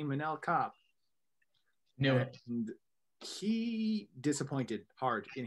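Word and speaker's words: Manel Kape: feel really good because the first time you talked about mannell copp i pronounced it wrong so hey it's apparently manila cop no he disappointed hart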